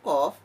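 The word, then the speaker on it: قاف: al-ikhlas yakni huruf qaf huruf qaf makhrojul huruf nya Yeni di Pangkal lidah Hai nanti ada teman huruf qaf ini yang mirip dalam pengucapannya yakni Kav al-kahf makhorijul huruf nya di Pangkal lidah sedikit kedepan kalau kau tadi di Pangkal lidah sedikit kebelakang sehingga bunyinya hampir-hampir sama Oleh sebab itu perlu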